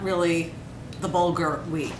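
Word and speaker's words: bulgur: How do you pronounce that word? Bulgar.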